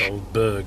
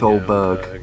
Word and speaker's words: Aldeburgh: This is ALDEBURGH. It's Oldberg, isn't it? It's Oldberg.